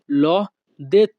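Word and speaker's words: l'ho: বাক্যের ইতালিয়ান ভাষা হবে লদে লদে এখানে এল এইচ ও এর উচ্চারণটা হবে ল অ ল পরবর্তী বাক্যটি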